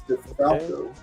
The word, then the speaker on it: DeFalco: Okay, I got Spectrum's first appearance, and it's signed by Tom DeFalco. No, it's DeFalco. Falco. Jen pronounces it DeFalco or DeFalco.